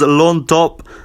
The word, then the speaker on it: Llontop: Next up on the card, Mauricio Ruffy versus Yams Llontop. That's the Peruvian. Peruvian pronunciation of the name there.